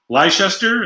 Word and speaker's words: Leicester: I don't remember that cheese leister is how you say it red light sister uh